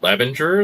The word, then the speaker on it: Levanger: I think you came from a pretty healthy place from Norway, and Levanger is how you say it, in a small town.